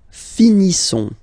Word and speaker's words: finissons: Nous finissons. Okay, ISSONS. Issons. Nous finissons. Finissons. Okay, final S not pronounced.